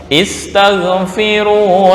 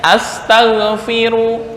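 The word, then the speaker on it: استغفروا: Nah, ulangnya di sini, istaghfiru rabbakum tsumma tubu. Nah, tapi misal nih, Bapak-bapak membacanya astaghfiru, artinya berubah.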